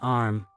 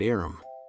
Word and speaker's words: arm: "Sure, it's an arm, Your Honor." He pronounced it Aram.